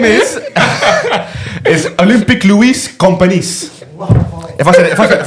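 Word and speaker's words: Lluís Companys: The stadium name is Olympic Luis Companys.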